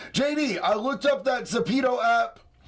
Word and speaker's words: Zepeto: JD, I looked up that Zepeto app. Pronounce it, but not with the long E.